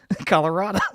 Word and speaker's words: Colorado: I say Colorado Colorado Colorado you got to keep your mouth open when you say it Colorado freaking V triloquist Colorado